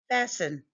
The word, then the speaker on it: fasten: Sometimes the letter T is silent. List and listen fast and fasten fasten the seat because it's the law.